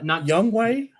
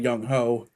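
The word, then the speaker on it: Younghoe: And um yeah, Young Way. Yeah, that's crazy. You know, everybody was talking about Young Ho. Oh, for sure. That's how I pronounced it when he first came out.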